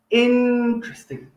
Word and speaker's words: interesting: again a bit robotic we say in stress on the first part interesting interesting okay okay now the next